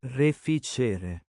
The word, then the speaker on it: Reficere: and discuss my thoughts on the new Ortiz Refacer gear set, or as Google Translate told me that it's pronounced Reficere.